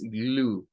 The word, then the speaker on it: glue: A pesar que tiene la UE, la E no suena. Como ya le hemos dicho, la E al final de las palabras en el inglés no tiene sonido.